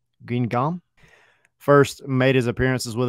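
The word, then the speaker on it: Guingamp: been a staple of I think it's pronounced green gum first made his appearances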